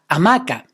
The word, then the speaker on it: hamaca: La hamaca. Hamaca is a word that has the stress on the second vowel, ma.